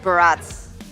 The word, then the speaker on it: Barats: Yeah, but going back to the previous topic, Barats. Barats. Wait, Barats rhymes with? Strats, right?